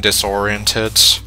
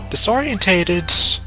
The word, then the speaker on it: disoriented: the shed and yeah I realized that I was mispronouncing disoriented I think mostly because for the longest time I just remember that quote the I'm scared and disoriented disorientated I heard it as disorientated and I was a